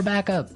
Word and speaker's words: backup: point out that here the pronunciation and stress of this phrase is really important hey yes yes you have to say backup Backup backup yeah so both words are stressed at about the same level hey m mhm back